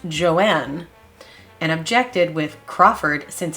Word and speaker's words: Joan: next was joan crawford lucille wanted the name to be pronounced joanne and objected with crawford